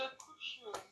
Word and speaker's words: couche: Se couche. Mm. You're forgetting the and. Our conjunction is not here for fancy. Oh. Et, Mm-hmm. il se coucha. Se couche, because there's no accent on the last E.